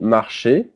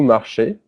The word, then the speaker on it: marchez: Then vous marchez. Easy in French is pronounced E. So it's vous marchez, pronounced exactly the same way as the infinitive.